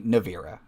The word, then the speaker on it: Navira: I'm going to say Navira. That may be wrong. Correct.